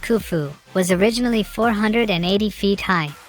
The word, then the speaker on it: Khufu: The pyramid built by the pharaoh Khufu, pronounced Khufu, was originally 480 feet high, and is made up of over 2.3 million stone blocks.